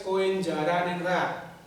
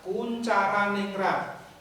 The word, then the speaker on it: Koentjaraningrat: menurut koentjaraningrat Hai itu tertulis koenjaraningrat Jangan dibaca seperti itu tapi membacanya adalah koentjaraningrat tulisan di situ adalah ejaan lama Hai Mungkin kalian tidak